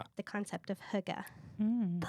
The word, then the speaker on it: hygge: The concept of huga.